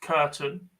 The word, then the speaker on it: Kirton: but Samantha Curtin, Kirton, but pronounced Curtin, has the nickname Beef.